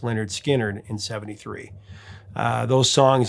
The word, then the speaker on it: Lynyrd Skynyrd: Five of those 17 would make it onto their official debut, pronounced Leonard Skard in 73.